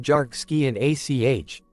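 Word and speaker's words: Dearc Sgiathanach: It was quickly given the Gaelic name Derk Sgiathanach, pronounced Jark Ski and ACH, and declared by experts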